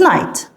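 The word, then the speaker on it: knight: الوسطى ان ذس از نايت بتتكتب كده واضح جدا ان الكي انا مش هنطقها وكمان الجي والاتش نايت ايكوال سولجر سولجر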